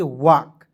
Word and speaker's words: walk: उसके बाद देखेंगे WALK, तो इसे पढ़ेंगे दोस्तों वाल्क नहीं पढ़िएगा, इसे पढ़ेंगे वॉक।